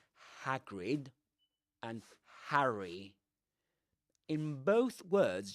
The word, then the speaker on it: Hagrid: will say but hrid hagrid you don't smile that much when you say hagrid you know the lips are a bit neutral rather uh let me check something guys just in case.